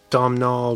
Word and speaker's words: Domhnall: Smith, starring Forrest Goodluck, Arthur Redcloud, Domhnall Gleeson, is that how you say it?